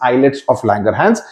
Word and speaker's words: islets of Langerhans: sound being made okay eyelets of langerhans islets pronunciation is eyelids of langerhans it means little Islands eyelids itself means little